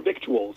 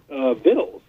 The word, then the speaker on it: victuals: guy said now further victuals and I went afterwards and told him I said you know it's interesting it should be pronounced vittles he said absolutely not